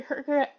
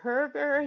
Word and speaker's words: Hoerger: to in inform the community um so Dr Herer uh do you do you want me to call you Dr Herer do you want you can call me